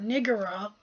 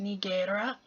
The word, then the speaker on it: Nigatara: So Nigatara here, a lot of people I've seen wants to call it Nigara, which I think is actually very disrespectful. I think it's pronounced Nigatara.